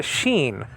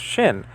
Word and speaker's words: shin: It's a sheen. Sometimes pronounced shin. The name of this letter. Okay. Leonard Nimoy, Mr. Spock from Star Trek, actually pronounced this letter shin and not sheen.